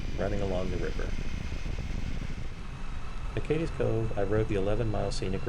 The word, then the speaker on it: Cades Cove: In the last video, I pronounced it Cades Cove, but someone was nice enough to correct me. Apparently it's Cades Cove.